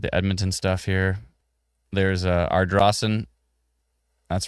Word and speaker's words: Ardrossan: There's Ardrossan. That's right. I finally know how to pronounce it because of the wonderful folks in our comment thread.